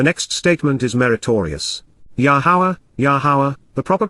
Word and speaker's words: Yahowah: Yahowah, Yahowah, the proper pronunciation of Yahowah, our Eloah, God as directed